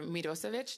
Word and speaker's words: Mirosevic: And I wanted to start with Senator Mirosevic. That's how you pronounce it.